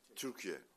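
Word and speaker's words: Türkiye: Dear colleagues firstly we changed the pronunciation. It's Turkey right now. It's not Turkey anymore.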